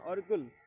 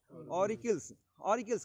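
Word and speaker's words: auricles: हाँ, ऑरिकुल्स, इसके क्या कहते हैं, ऑरिकल्स कहते हैं, सही प्रोनाउंसिएशन ऑरिकल्स है, AURICLE है ना, ऑरिकल्स कहेंगे इसे।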